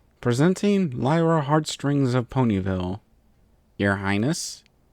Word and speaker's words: Lyra: It's pronounced with a lie, not a lee. Presenting Lyra Heartstrings of Ponyville.